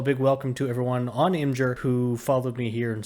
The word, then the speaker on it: Imgur: Munns, author, geek, and guy who will always pronounce it Imgur, even if it's supposed to be called Imager.